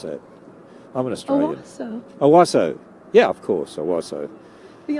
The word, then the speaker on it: Owasso: How do you pronounce that? I'm an Australian. Owasso. Owasso.